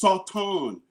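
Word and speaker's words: שטן: The word is pronounced sauton and it says opponent.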